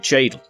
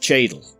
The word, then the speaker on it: Cheadle: out of the city towards Fosbrook, Dillon and Cheadle. Fosbrook refers to Forsbrook, and Dillon as Dillon. These are smaller towns and villages just outside of the city. And finally we got Cheadle, which is Cheadle, a small town with a